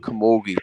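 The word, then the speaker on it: Camogie: Look up the senior all Ireland Kamogi trophy.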